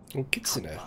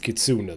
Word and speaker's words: kitsune: many many stories about kitsune that's a name i recognize from uh shadowrun i was just pronouncing it kitsuna though but consider i